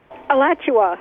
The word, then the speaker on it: Alachua: Alachua.